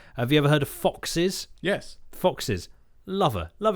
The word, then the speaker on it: Chvrches: So the other one is Chvrches, but obviously spelled with a V, not a U. Chvrches. And from their newest album,